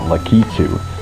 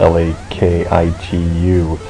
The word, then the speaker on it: Lakitu: younger days um I always called him uh makichu I spelled l-a-k-i-t-u that's just always what I've said and then